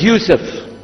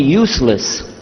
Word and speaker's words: Yusuf: as my name is Yousef did you say Yousef me say Yousef you're very good I wish you teach my wife she keeps mispronouncing it she calls me useless alhamdulillah now how many of you were in